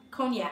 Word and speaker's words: Cognac: Cognac. I feel like the G is silent.